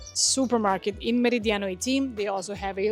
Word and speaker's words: Meridiano: I always like to pronounce it in the Spanish way, in the Dominican way because that's basically how we how we pronounce most of the projects with these names, but again, in English it would be Meridiano 18.